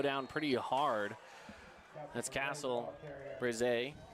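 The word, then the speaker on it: Berezay: That's Castle Brize. I believe that's how they say it, Brize. I think it's. I'm trying to hear how Roger's saying it on the PA out there. He's saying Brize.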